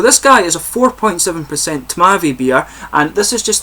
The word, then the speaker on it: Tmavý: So this guy is a 4.7% Tmavý beer, and this is just the Czech way of describing a Dunkel beer essentially. It's very similar to a German Dunkel beer, but Tmavý of course is how you say it in Czech.